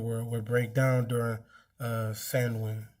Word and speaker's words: Samhain: In modern times, Samhain, a Gaelic word pronounced Samhain, that's what I was supposed to say it, is usually celebrated